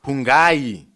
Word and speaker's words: Hungani: So, ladies and gentlemen, we are about to now check out the news of Hungani, that's how they pronounce it, Ndlovu, and Stephanie Sandows Ndlovu, as their marriage comes to an end.